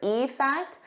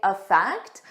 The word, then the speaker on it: effect: Notice here when I say the individual word effect, I stress that e more, but in a natural sentence, I would just say effect. I wouldn't stress it as much. So, it will sound very similar to affect the verb.